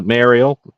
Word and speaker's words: Mariel: That's Mariel. That's the Old Norse spelling of Mariel.